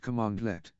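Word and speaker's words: cmdlet: Powershell command is called a condort pronounced commandlet a condort is a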